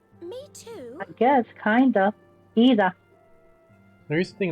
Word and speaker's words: Yda: Okay, it's pronounced Ida. YDA, Ida. I don't know why it's pronounced E-da, since you have a Y in there.